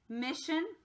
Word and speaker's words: mission: Mission. It's almost like that S disappears, huh? It's really tricky, so make sure you pay attention.